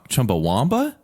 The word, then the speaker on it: Chumbawamba: one thing I didn't know it's actually chumbawa Chumbawamba Chumbawamba yeah they spell it Chumbawamba w-a-m-b-a Chumbawamba yeah Chumbawamba let's look